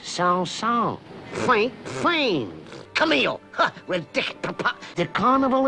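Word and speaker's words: Saint-Saëns: communication is used here it is pronounced sound song frank flames camille the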